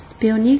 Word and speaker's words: Peony: Pour les téléviseurs de marque Peony, comme ça se prononce, mais sauf que ça a un Y à la fin.